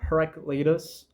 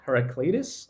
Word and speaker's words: Heraclitus: Do you know Heraclitus? Yeah, I think Heraclitus. I think it's the English pronunciation.